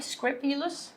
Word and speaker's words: scrupulous: So number one is scrupulous, and when we describe somebody being scrupulous here, as you can see, scrupulous, we pronounce the first U as I, scrupulous, okay?